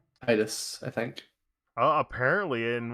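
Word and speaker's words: Tidus: uh remaster for switch apparently they're saying titus which i really don't agree with i think it should be titus it's titus whatever i never played the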